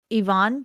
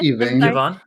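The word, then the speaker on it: Yvaine: can't I can never Ivonne is what how do you say say it again Evan Evan it's not I yeah um Evan yeah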